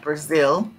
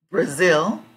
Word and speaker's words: Brazil: I was looking at Brazil and I said in Brazil Zil part is the strong syllable so you can see that here Brazil Brazil Zil is the